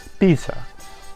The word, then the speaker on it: pizza: In all languages using Latin alphabets that I know of, in Italian it's pronounced pizza with a long or double, as I would call it, Norwegian T sound.